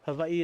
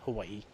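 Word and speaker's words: Hawaiʻi: me about that before Hawaii is the proper way of saying Hawaii most people know that by Hawaii the W is a v in the Hawaiian language and I do have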